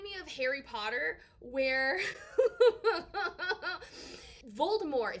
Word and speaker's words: Voldemort: of harry potter where voldemort is french ergo you do not pronounce the t on the end i don't know how